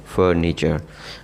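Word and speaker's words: furniture: جو صحیح تلفظ ہے اس کا وہ ہے فرنیچر. آر جو ہے وہ بہت ہلکا سا پڑھا جائے گا.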